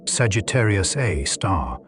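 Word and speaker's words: Sagittarius A*: At the center of the Milky Way is Sagittarius A, pronounced Sagittarius A star, a black hole with about 4 million solar masses.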